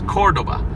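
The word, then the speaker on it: Córdoba: put the accent on the oak so it's Cordoba so I always wonder if in Spanish this wasn't Cordova but we pronounce it Cordova so we put the accent on the last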